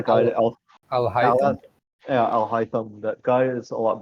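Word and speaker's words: Alhaitham: Like Alfam, how do you pronounce his name? The other guy, Al Al Al Haitham? Al Haitham.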